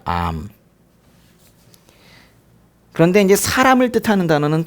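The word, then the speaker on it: עם: 백성이란 단어는 암 이렇게 발음해요. 암.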